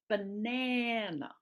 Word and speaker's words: banana: 3 syllables, only one syllable gets the stress. Okay, it's the middle syllable. So instead of saying banana, which sounds weird, right, and very robotic, I only stress the important syllable and I minimize the other two.